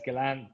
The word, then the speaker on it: Ghislaine: of the CEO of that company surface beside Ghislaine Maxwell, like, so. Yeah. Our buddy Ghislaine, who has disappeared. Is it Ghislaine or Ghislaine? I don't know. Ghislaine. It's Ghislaine.